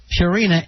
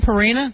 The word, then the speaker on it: Purina: have you been saying purina all this time i would guess i have perina one yeah a hard pee yeah instead of easing into a pure i had no idea